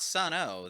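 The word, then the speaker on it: Sunn O))): I mean, Anyway, they're not Sun O. They're Yeah. That would have been probably a more interesting critical listen. and yes, metal fans, I know Sun O isn't actually, you don't pronounce the O, but look, these are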